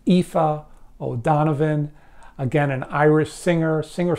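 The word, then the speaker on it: Aoife O'Donovan: I checked it out several times it is pronounced IFA O'Donovan again an Irish singer singer songwriter and this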